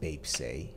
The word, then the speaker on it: Baepsae: interesting BTS often calls themselves as cro titits pronounced Bap oh I see so Bap is the Korean